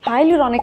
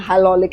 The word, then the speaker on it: hyaluronic: I've heard people call it all kinds of things like hyaluronic acid and hyaluronic acid and all sorts of things. Okay, it's hyaluronic acid.